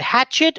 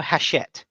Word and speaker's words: Hachette: heroes hatchet is it hatchet or hachette hatchet hatchet books yeah cause it's it's not hatchet like the little axe that you stick into a tree it's pronounced like that okay um it's a